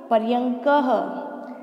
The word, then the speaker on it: पर्यंकः: इसको उच्चारण करना सीखिए, शब्द देखने में बड़ा टिपिकल लग रहा है, इसका उच्चारण बनेगा पर्यंकः, ठीक है बच्चों।